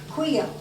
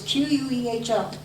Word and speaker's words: Queho: This is Queo, or Queo, however you want to pronounce it. It's Queho.